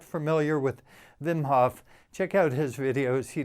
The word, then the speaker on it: Wim Hof: before anyone in the world knew about the wim hof method which is fascinating if you haven't heard about it it's actually pronounced vimhoff he's from belgium and he's broken like 27